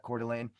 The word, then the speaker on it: Coeur d'Alene: That's how you pronounce that, Coeur d'Alene.